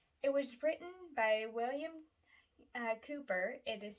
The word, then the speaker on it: Cowper: the great favorites it was written by william cooper it is spelled calper which is pronounced cooper in 1772 now cooper had struggled pretty much